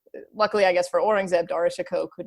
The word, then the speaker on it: Dara Shikoh: And I think that is because of Dara Shikoh, right? His brother. His brother? Okay, yeah. Right, the That's how you eldest, pronounce it.